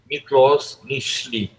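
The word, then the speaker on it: Miklós Nyiszli: comentar o relato de um sobrevivente do holocausto mlos michle assim se pronuncia médico Húngaro de origem Judaica sobrevivente de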